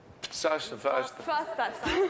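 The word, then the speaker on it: Pfastatt: Comment ça s'écrit? P-F-A-S-T-A-2-T. Fastat.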